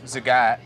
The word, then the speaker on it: Zagat: So Zagat, which I didn't know that's how you pronounced it until I got nominated for this,